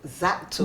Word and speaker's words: Zelato: Zato. The L is silent.